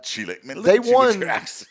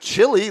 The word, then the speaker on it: Chile: Uh, Chile. Well, it's not chili like the food you eat.